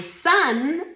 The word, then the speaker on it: son: My son is a size 30. My son is a size 30. Cuidado con la pronunciación de hijo. Son, ¿ok? Esta O se pronuncia como una A.